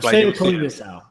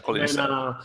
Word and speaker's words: Kalinisau: Aaron, so I should actually say it like yeah, say it normally. Yeah, like Kalinisau. Okay. Kalinisau.